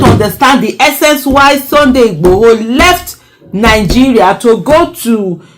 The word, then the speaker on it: Igboho: That's what happened to me when I saw the Sunday Igboho, I think that's the correct Igboho, that's the correct pronunciation, presenting a petition to the UK government for the creation of Yoruba land.